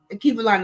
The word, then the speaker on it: Alkebulan: Akibalan is spelled ALKEBULAN.